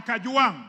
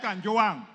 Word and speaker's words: Kang: all first of all pronounce my name properly I'm not I am Kang not Kang number two Mr Speaker